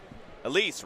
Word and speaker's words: Elise: Elise rhymes with fleece.